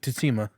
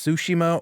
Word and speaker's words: Tsushima: you said it right you said the tea hard so you're like ghost of tatima which i think it's tsushima or tsushima i don't really whatever